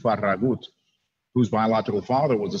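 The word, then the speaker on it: Farragut: United States Navy was David farag or more accurately pronounced David faragut whose iCal father was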